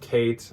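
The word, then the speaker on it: Khaite: co co a CO it's k h a i t e it is pronounced Kate if you don't get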